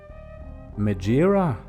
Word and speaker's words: Megaera: Okay, yeah, I'm seeing multiple sources say, but like that's the English pronunciation of a Greek mythological name. I figure like the original pronunciation is more along the lines of Megaera?